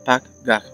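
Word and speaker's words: פגע: la palabra intercesor es la palabra hebrea paga pronunciado pag gag y significa reunirse estar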